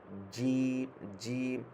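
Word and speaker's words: جيم: তারপর হচ্ছে জিম, এটা আমাদের বরিকার্য যে এই যেরকমভাবে উচ্চারণ করি ওই রকমভাবেও একটু হার্ড, ওটা থেকে একটু হার্ড হবে।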